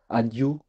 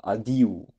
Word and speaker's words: adiu: J'ai déjà entendu chez Daniel adieu, et c'est plutôt adiu. Voilà, parce que, voilà, l'accent tonique est sur le i.